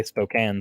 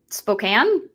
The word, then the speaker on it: Spokane: why you guys say Spokane so weird Spokane there's an e at the end of it it's Spokan uh because actually it's